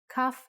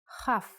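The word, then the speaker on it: כ: Kaf actually is only pronounced like K when it has a dot inside. Just like Bet only has the B sound when it has this dot. Without the dot, it sounds like Ch.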